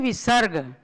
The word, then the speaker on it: विसर्ग: दो इनको कहते हैं विसर्ग समझे ना तो इससे ह का उच्चारण होता है और लिखा इस तरह